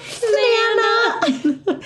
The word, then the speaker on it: Thnana: Come on, Thnana! It's the little, like, why does he say it like that? Because he's a baby. It's literally like T-H-N-A-N-A.